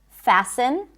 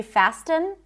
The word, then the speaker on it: fasten: There are a lot of words with a silent T. For example, fasten. We don't say fasten.